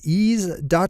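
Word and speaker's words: Eaze: same one more time that's easy calm which is spelled e a Z e is calm alright time for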